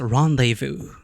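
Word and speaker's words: rendezvous: Rondes vous spelled reendes but pronounced rendevu.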